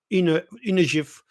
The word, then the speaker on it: GIF: And what is interesting in GIF is that, and again it's pronounced GIF, not GIF, is that image data, the keywords to for the various elements, structural element of the file, are punctuation.